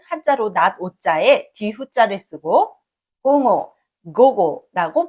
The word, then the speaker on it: 午後: 그리고 오후는 한자로 낮자에 뒤자를 쓰고 옹호 고고라고 발음합니다.